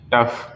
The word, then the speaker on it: tough: Next TOUGH, टफ।